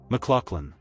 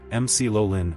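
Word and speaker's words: McLaughlin: Americans often say MC Lolin or MluFin depending on what they've heard. A common pronunciation shown in dictionaries is closer to mck lin with that middle sounding like lock machlin.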